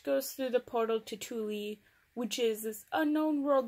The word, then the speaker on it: Thule: kind of why people went to Thule, or Thule, it's actually truly pronounced Thule, guys.